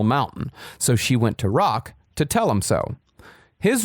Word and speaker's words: Roch: It rhymes with rock. I hate cult leaders. All they do is talk about their cocks. But when Giselle got upset that Roch had twisted her words